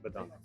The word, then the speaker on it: bedankt: Or bedankt.